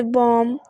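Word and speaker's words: bomb: इसी तरह से डाउट, DOUBT, लेकिन इसमें बी जो है वो साइलेंट आ रहा है। इसी तरह से बॉम और टॉम, इनमें भी जो है वो बी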